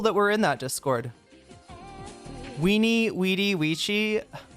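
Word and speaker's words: veni, vidi, vici: Weeny Weedy Weii. It's definitely weeny weedy or Winnie Witty. Classic Latin V was pronounced W, but it's ecclesiastical Latin.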